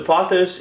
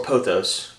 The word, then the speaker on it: pothos: Choice the pathos so the posos is or poos I've heard both pronounced uh differently so it could be one or the other but the pothos plant